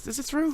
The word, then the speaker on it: Theroux: Is it Theroux? Theroux. They say his name a lot. It's Theroux.